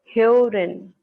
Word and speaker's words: Hören: Alright, so this is the umlaut which is pronounced as A. So we can call Äpfel, Äpfel. And then we have umlaut Hören, which is called Hören, Hören, Oren.